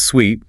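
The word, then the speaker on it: suite: The pronunciation is sweet rhyming with sweet like sugar.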